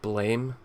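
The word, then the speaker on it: Blame!: of manga maybe like blame where in in uh or blam i believe it's pronounced i can blam none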